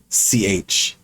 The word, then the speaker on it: Zatch: I haven't played it, so What the actual hell is Zach Bell? Zatch Bell. He tried to.